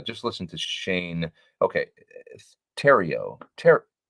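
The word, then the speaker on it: Theriot: Terrio. Okay. That makes sense. Thank you for Eric because I've always wondered. Shane Terrio's, it is kind of like the silent T then.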